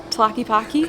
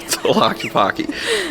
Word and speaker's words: Tlaquepaque: How do you pronounce it? Tlaquepaque. Tlaquepaque.